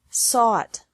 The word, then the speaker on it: sought: Seek, sought, sought. Teach, taught, taught. Think, thought, thought. Remember that the G is silent in these verbs.